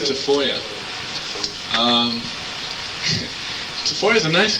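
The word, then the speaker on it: Tafolla: ever happened to Joey defa actually you pronounce it deoya um TFO is a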